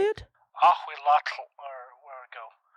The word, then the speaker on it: Ahuitzotl: Ahuitzotl, or where we go? Ahuitzotl.